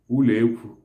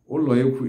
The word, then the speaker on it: uloekwu: The kitchen itself is called in Igbo usekwu, uleekwu. Usekwu is spelled as U-C-E-Kwi-U. U-C-E-Kwi-U, usekwu. Oloekwu is spelled as O-Le-O-E-Kwi-U.